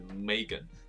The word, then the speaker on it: Meghan: 他的名字很有趣，Meghan，他的发音是 Megan。